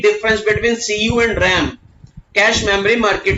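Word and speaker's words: cache: याद करो बेटा कैश, बोलते क्या है इसको? कैश, दैट इज प्रोनाउंस करते हैं हम लोग इसको कैश।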